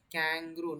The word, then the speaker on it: kangaroo: The exact pronunciation of the word is kangaroo, not kangaroo.